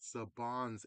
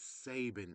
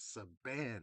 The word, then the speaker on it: Saban: It turns out it's not Sabons entertainment. It's Sabin Entertainment. That means haime Sabons is actually ha sin or Sabine but our biggest saving. So, we've been saying it wrong all these years. How in the world has it took 30 plus years to find out saying we were saying Sapans Entertainment wrong. It was Saban entertainment.